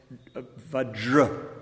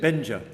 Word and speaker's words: Vajra: So and they can't say Vajra. They can't do that sound. Yeah. और ज में जो र का उच्चारण होता है वज्र, वो नहीं बोल पाते हैं। So they say Benja.